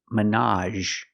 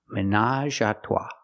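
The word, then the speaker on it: ménage: in a romantic way pronunciation Minaj again we have the a sound at the end Minaj there's even a brand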